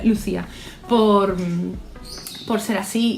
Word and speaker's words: Lucía: Y gracias Lucía, que según esto se pronuncia Lucía, por ser así y por darnos estas historias tan maravillosas, porque si no existiera habría que inventarte, la verdad.